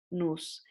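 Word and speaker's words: νοῦς: Y ahí nos lleva a la otra palabra que vimos, nous. Se escribe nuse, pero se pronuncia nous.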